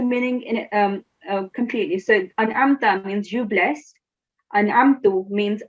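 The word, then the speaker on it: أَنْعَمْتَ: As you can see here, it's an'amta. You can, if you say an'amtu, it will change the meaning in it completely. So an'amta means you blessed, an'amtu means I blessed, okay?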